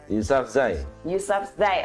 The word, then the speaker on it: Yousafzai: Apa ya bacanya Yousafzai. Ya, bener. Salah. Dia ada Z-nya. Dia yang wartawan. Yousafzai.